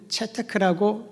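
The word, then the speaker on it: צדק: 히브리어의 원어는 체테크라고 발음을 하기도 합니다.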